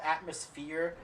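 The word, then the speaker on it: Aatmosfear: uh I should clarify it's called atmosphere but it's spelled a-a-t-m-o-s-f-e-a-r oh like Atmos and then fear yeah instead of like atmosphere I see uh again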